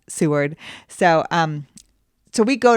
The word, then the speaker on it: Seward: but I say it's c word the whole time I'm a name butcher just putting that out there and so people have corrected me it's spelled like c word right but it's pronounced Seward so um so we